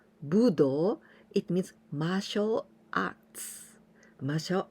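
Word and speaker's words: 武道: amazing for me because this kanji we usually pronounce budo budo it means martial arts martial arts budo but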